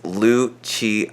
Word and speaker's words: Lucci: say my name correctly it's Lucci I know and I know that it's not exactly the most I guess logical way to say my name there is no like CH producing sound but that's the way my name is supposed to be said that said part of